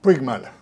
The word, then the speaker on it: Puigmal: Puigmal. Sí, dígame lo que lo pronuncié más o menos bien.